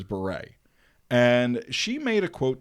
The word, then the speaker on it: Bure: this candace cameron beret this is not burr it is beret and she made a